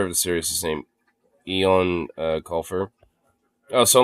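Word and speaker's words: Eoin: The author of the series is named Eon Colfer. Oh, so like some Irish guy, I think. But yeah, that's no Eon is an Irish name, and it's basically similar to Ian. It's Eon.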